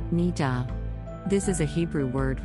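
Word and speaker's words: niddah: This week's Jewish terminology word is nida, pronounced nida.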